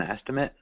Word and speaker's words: estimate: estimates estimates yeah um so we have noun which is an estimate which sounds like that and then we have the verb which is to estimate which ends up sounding like estimate with a long a and then the noun is EST estimate like that does that make sense